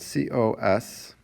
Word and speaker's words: cosine: second one is spelled c-o-s-i-n-e and that's read cosine its abbreviation is also just its first three letters again we don't read that as cos we read that as cosine next one is called